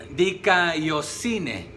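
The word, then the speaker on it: δικαιοσύνη: se puede traducir, es una palabra compuesta también, dikaiosine se pronuncia, pero dike es un veredicto judicial, o se puede traducir que también es una aprobación judicial, o un veredicto de aprobación.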